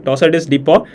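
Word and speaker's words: torsades de pointes: a polymorphic VT that's also known as tossus dep okay the French pronunciation tossus dep toss is dep occurs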